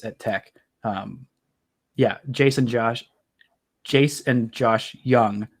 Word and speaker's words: Jung: Jace and Josh Young. Young is spelled with a J in case you didn't know.